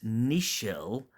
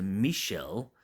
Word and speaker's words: Nichelle: as lieutenant ohura and that's Nichelle as opposed to Michelle is spelled with an n for November Nichelle Nichols yes that's